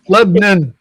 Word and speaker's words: Lebanon: And uh Lebanon. Two syllables, not three.